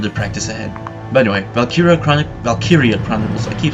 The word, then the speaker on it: Valkyria: But yeah, today, Valkyria Chronicles.